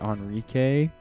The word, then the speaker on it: Enrique: how I pronounce it some people would say Enrique but the Q the E should have an accent if it's Enrique but I say onri because it sounds a lot better sounds like it should be Eric but it's Onre I don't know that's